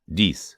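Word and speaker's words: dix: 10 de. Remember common expressions in French. Voila. There it is. There they are. Moshe garson. My dear boy.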